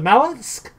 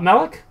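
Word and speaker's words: Malok: get the groups of mallusk up Malik sorry mispronunciation and it is also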